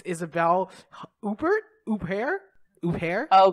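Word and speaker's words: Isabelle Huppert: probably equally embarrassing way isabelle huffer now no remembering that she's french like of course you don't pronounce the t god yeah and there's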